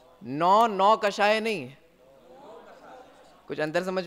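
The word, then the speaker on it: नोकषाय: तो नौ कषाय नहीं है, नो कषाय है, ठीक है?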